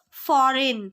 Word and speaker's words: foreign: The answer is foreign. A silent letter is G.